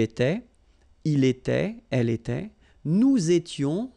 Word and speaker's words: nous étions: Okay, tu étais, il était, elle était, nous étions, little liaison here to make it more beautiful, nous étions, okay, final S not pronounced, remember, vous étiez, same